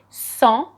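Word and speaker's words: sans: avec excellent my friend without is so and i'm not pronouncing the s at the end they speak without hesitation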